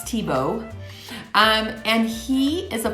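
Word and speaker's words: Thiebaud: my very favorite artist named Wayne Tebow that's how you say it even though it's spelled thei bald but it's Tebow um and he is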